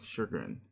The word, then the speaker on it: chagrin: Especially to your unending chagrin.